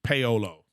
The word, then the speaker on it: Paolo: Didn't say it right, but it's Paolo. Yeah. So it's like Paolo. Yeah. So like if there's a dude named Olo, you gotta pay him.